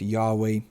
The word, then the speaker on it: Yahweh: scholars would believe that god's name was originally pronounced yahweh in ancient hebrew there's even a wikipedia